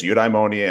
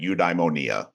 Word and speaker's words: eudaimonia: So literally while I was writing my dissertation, we went to Athens, and I've heard it as eudaimonia and eudaimonia.